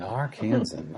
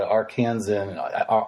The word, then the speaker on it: Arkansan: An Arkansan? I don't even know. I've never been there, to be honest with you. Is that how they say that? Yeah. I think that's how they say it. Arkansan.